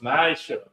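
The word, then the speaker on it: מעשר: You can find this in Numbers chapter 18 and verse 21, and Malachi chapter 3 verses 8 to 10 means tenth in Hebrew, and it's pronounced ma'asher.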